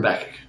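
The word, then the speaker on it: Habakkuk: be picking up with habach soon or as some people pronounce them habac I prefer habach but we will see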